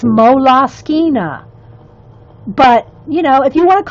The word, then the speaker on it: Moleskine: Yeah, Moleskine, moles, moleskins, whatever everybody wants to call them.